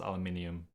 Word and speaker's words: aluminium: in Newman alluminium yeah you gotta keep the eye in there like it's pronounced aluminium you don't skip down